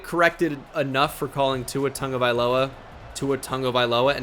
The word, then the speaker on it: Tagovailoa: I already get corrected enough for calling Tua Tagovailoa and not Tagovailoa, which is not his name, by the way. It's pronounced Tagovailoa.